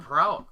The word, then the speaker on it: Prout: Dalton Prout. Prout, yeah, that's how you pronounce it.